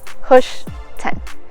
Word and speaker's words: Hoschton: don't know why but this little town is forever being mispronounced so say it with me push 10.